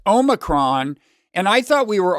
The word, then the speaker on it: omicron: big pronunciation issue about omicron last week and i got a lot of grief for that i was unfairly derided online here's what happened i mistakenly said um omnicron without realizing i don't